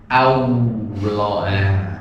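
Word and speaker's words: الله: Nah, ketika mengucapkan Allah, A-nya jangan dibaca O. Nah, karena Allah-nya tebal, akhirnya A-nya jadi O. Allah jadi O. Allah. Yang betul A. Coba diikuti. A. Nah, A-nya kayak gimana kemarin? A, meringis ya. I terus A. Nah, meringis ini. Coba Allah. Coba. Allah. Nah, Allah. Allah. Bukan Allah. Nah, bukan O ya.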